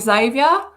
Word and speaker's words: Xavier: diff you know like xavier that annoys me that it starts with x but it's pronounced like with a z not that your name